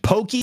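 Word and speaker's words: poké: be the sphere Damon Pokey from Gumby yeah see I knew I was saying it right it is poke with a little front on the E indeed uh Damon guacamole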